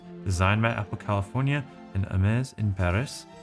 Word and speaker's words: Hermès: by Apple California and Ames in Paris. We do not pronounce the H and the S is more like a Z, but a soft Z.